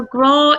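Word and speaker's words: grá: Do you know what a graw is, Anna? No, but I hope that you can educate me on that. So, graw is the Irish word for love. Oh, I love it. How do you spell that?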